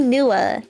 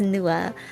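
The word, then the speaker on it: Nuadha: it's fun it's NAA it's one of those funny things where the DH is silent so the DH is silent so it's NOA um he is the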